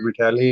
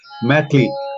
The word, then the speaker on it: मैथिली: सोनू ने, लखन कुमार जी ने नॉट मिठियाली, इट्स मैथिली, हाँ मैथिली, मैथिली, माफी चाहता हूँ मैं, प्रोनाउंसिएशन में गड़बड़ होगी, माफ कर दीजिएगा लखन जी।